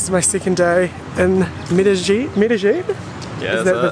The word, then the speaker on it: Medellín: And now this is my second day in Medellín. Yeah, is that the pronunciation?